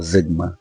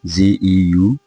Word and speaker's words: Zeugma: the day, Zeugma or Zigma. I am more comfortable saying Zigma as is on the screen, Zeugma. People pronounce it Zeugma, but I'll go with Zigma.